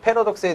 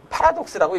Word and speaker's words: 패러독스: 자, 오늘 학습 목표에서 살펴본 것처럼 윤기쌤의 교과 플러스 특강에서는 수학적인 역설, 패러독스에 대해서 얘기를 해주겠습니다. 일단은 패러독스의 뜻부터 알아보고 들어가 보죠. 패러독스, 파라독스라고 읽어도 상관은 없어요.